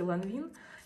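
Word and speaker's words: Lanvin: Я, кстати, читаю, да, по-русски ланвин.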